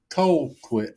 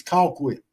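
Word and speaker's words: Colquitt: But Just yeah, when you you think pronounced it coal quit. It's not coal quit. We don't do coal here. It's call quit.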